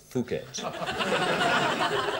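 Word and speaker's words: Phuket: It was we started off in a place called P H U K E T Fuket uh which is in southern Thailand.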